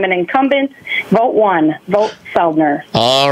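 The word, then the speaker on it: Soeldner: real website Stacy my real website yes is seldner and my last name is spelled s o e l d n r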